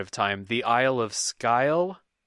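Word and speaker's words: Sgàil: You know how to say I've always pronounced it scale. Scale? Like the scales of a fish, but with, I guess, a little bit more g in there. Yeah, it's a Gaelic word, and if I have any weakness in my life, it's Gaelic pronunciation.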